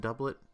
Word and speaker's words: doublet: the meal get the one double so nice pronounced doublet doublet I've never even heard of a doublet